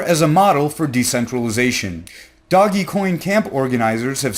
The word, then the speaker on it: Dogecoin: I have recently found out that it is pronounced doggy coin and not Dogecoin some burners might say that the festival is